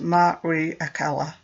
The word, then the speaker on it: Mariekkela: love in the dream maria keller pronounced marie akala her story seemed more